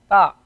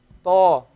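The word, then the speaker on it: ط: Notice we say to and we do not say ta. To.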